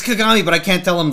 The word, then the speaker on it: Kagami: to remake your whole face like that it's kagami but i can't tell him that otherwise he'll